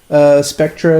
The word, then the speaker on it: Spectre: it's pronounced Spectre. It means a ghost, actually.